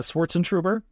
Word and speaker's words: Schwartzentruber: your last name uh Schwartz and trer okay no side of letters it's just how it's spelled it's just long so it's intimidating exactly but it's it's actually really straightforward okay yeah I mean